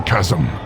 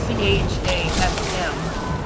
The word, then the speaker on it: chasm: Okay, so it's spelled C-H-A-S-M. They call it chasm. Anyone else here used to call it chasm? Before they realize, hey, that doesn't sound right.